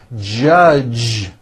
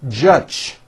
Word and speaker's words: judge: word judge judge now the mistake that many foreign speakers make is that they Uno the J sound at the end of a word so for example many foreign speakers would pronounce the word judge as judge turning that sound into an unvoiced CH judge and that is not right the J sound in